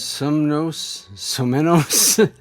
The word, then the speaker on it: Somenos: Samoas Lake? Somenos.